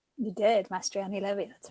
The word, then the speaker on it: Mastriani-Levi: You did, Mastriani-Levi, that's right.